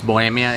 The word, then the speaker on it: Bohemia: favorite Mexican beer this called Bohemia or Bohemia some people call it bring it but it's Bohemia in Spanish it's pretty awesome if